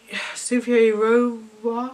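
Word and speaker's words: Cynthia Erivo: It's Cynthia Rova.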